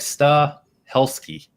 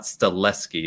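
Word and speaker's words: Stahelski: ski yeah is uh it's like star helsky it's not stellesky it's it's helsinki yeah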